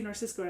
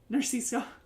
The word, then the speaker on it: Narciso: Dennis McCubbin, Greg Narcisco, I always say Narcisco, I say it wrong, Narciso, Tony Nelson, Sam Nugent,